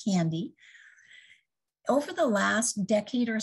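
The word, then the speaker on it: KNDy: And so this is pronounced as capital K, capital N, capital D-Y. It's a kispeptin neurokinin B dynorphin neuron complex in the brain, and we call it candy.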